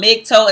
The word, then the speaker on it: MGTOW: So again, we're talking about MGTOW, and that is just the pronunciation of the acronym, Men Going Their Own Way.